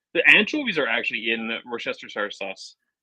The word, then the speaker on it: Worcestershire: That's in Worcestershire sauce. Yeah, it is. The anchovies are actually in Worcestershire sauce.